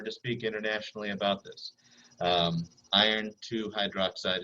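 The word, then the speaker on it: iron(II) hydroxide: Iron 2 hydroxide is how you say it out loud, but the way you write it is iron, open parentheses, II, close parentheses, and then hydroxide.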